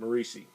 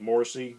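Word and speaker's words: Morisi: actually created written and drawn by uh Pete macei now I thought the guy's name was Pete morsy but I watched a Charlton panel on YouTube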